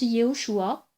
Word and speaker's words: Yéhoshoua: Et voilà pourquoi moi je prononce Yehoshua, parce que c'est son nom entier, tout simplement.